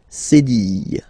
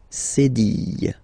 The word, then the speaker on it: cédille: Okay, and that's what we call cédille. Cédille.